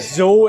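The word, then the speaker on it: dô: How do you say it? Zo in the north. Yeah, we say zo, Zo, yeah.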